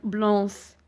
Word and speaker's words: blanc: Le C muet. Par exemple, blanc. ما قلناش blanc ou la blanche. On a dit blanc.